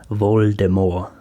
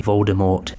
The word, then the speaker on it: Voldemort: to give jk rowling intended voldemort's name to be pronounced with a silent t voldemort as she got at